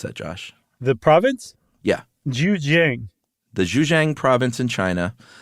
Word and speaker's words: Zhejiang: These caves in China, specifically the, how would you pronounce that, Josh? The province? Yeah. Zhejiang.